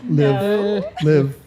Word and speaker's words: LIVI: LIVI. Live. LIVI. Yes. There you go. There you go. It don't sound like it's spelled.